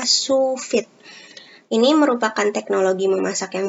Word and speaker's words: sous vide: goreng lalu yang ketiga ada shuvit tulisannya sous vide tapi dibacanya supit ini merupakan teknologi memasak